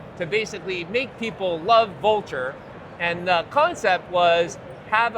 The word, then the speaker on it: Vultr: I'm like Vultr like the bird and they're stunned.